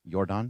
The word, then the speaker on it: Yordan: Jordan Alvarez hit what appeared to be a home run to left field. Yordan, yeah. But oh, is that how you pronounce it? Yordan?